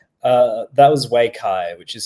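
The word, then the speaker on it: Waikay: Uh that was Wayai, which is spelled W A I K A Y.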